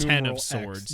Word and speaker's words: X of Swords: and to be clear this is x of swords because it's it's called x of swords it's pronounced ten of swords yes so uh yeah